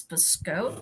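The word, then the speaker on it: Biscotte: uh for biscope Yarns it's spelled biscotti but this because they're French it's biscoat and biscoat was the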